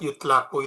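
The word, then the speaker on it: يُطْلَقُ: Kemudian ini kebiasaan kalau lafaz yutlaku itu bacanya majhul.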